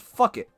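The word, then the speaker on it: Phuket: And then there's also a city in Thailand called Fuck It, which is P-H... U-C-K-E-T-T, I believe. And it's pronounced fuck it.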